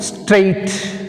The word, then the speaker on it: straight: Next word, straight. Straight which is silent? GH is silent.